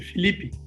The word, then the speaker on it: Felipe: And Felipe is, it's Felipe, isn't it? I'm in such a habit of saying your name wrong. It doesn't really matter. Philippe, whatever. I want to be authentic here. What is the true way to say it? Everyone calls me Philippe. Yeah, Philippe. Okay.